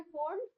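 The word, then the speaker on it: Pfund: इनके नाम है फंड फंड में पी साइलेंट है फंड भी बोलते हैं फंड फंड दोनों बोलते और हम फी सीरीज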